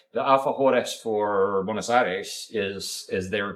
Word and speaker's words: alfajores: Argentina dessert, which is a You gonna say Alfajores? Alfajores.